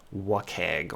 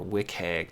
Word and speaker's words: WCAG: the ada compliance is something called what keg or wick egg depending on who's going to pronounce it but it's wcag we'll look at that